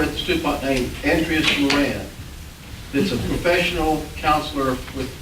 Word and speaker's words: Moran: Andreas, it's a Spanish name with, you roll the R, I can't pronounce, but it's Andreas Moran, M-O-R-A-N, Moran.